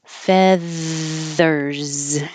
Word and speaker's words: feathers: so that you know it has voicing feathers and it looks like an S but sounds like a z feathers make me sneeze